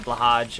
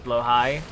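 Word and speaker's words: Blåhaj: Because I did a video about trans space marines and I said blahage and people were like, "That's wrong. It's blow high."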